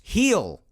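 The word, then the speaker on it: Gil: trade deadline talk the last few weeks luis heal and i've actually pronounced his name wrong in the past i'll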